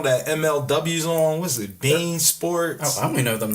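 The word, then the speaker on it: beIN Sports: It's spelled Being. It's pronounced Bean Sports.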